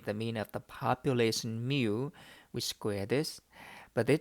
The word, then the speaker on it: mu: It is pronounced mu.